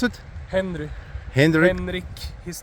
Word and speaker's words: Hendrik: How do you pronounce it? Henry. Henrick.